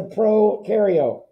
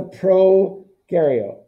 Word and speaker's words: prokaryote: nucleus what is a pro cario come on give me something keegan reagan cameron francis anybody in that group pro rhymes with no no because they have